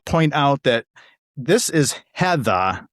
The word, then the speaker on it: Heatha: out that this is Heather, Heather, not Heather. So, you know, some of us in New England don't pronounce our Rs, and I wanted people